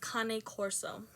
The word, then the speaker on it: Cane Corso: And yeah, literally, according to the American Kennel Club, the name King Corso is actually means bodyguard dog, and it is pronounced Cane Corso.